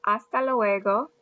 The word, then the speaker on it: hasta luego: You have hasta luego. Repite, hasta luego. And it means I'll see you later. Notice that the H is silent.